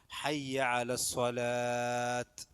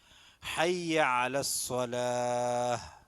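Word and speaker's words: حي على الصلاة: ഒക്കെ കൊടുക്കുമ്പോൾ അല്ലെങ്കിൽ ബാങ്ക് കൊടുക്കുമ്പോൾ ഒക്കെ ആളുകൾ തെറ്റിക്കുന്നതാണ് ഹയ്യ അല സ്വലാത്ത് ഹയ്യ അല സ്വലാത്ത് തെറ്റാണ് ഹയ്യ അലസ്വലാഹ് അവിടെ ഹാ ഉണ്ട് ഉച്ചാരണം പറഞ്ഞത് അപ്പൊ ഹാലും ഹാലും തന്നെ ഉച്ചാരണം പറഞ്ഞത്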